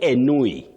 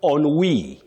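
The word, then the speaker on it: ennui: Don't say anui. Enui. No you say on wei. On wei. That word is from French.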